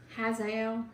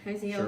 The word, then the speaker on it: Hazael: This Hazael, how do you say that? Is Hazael. That right? Hazael, sure.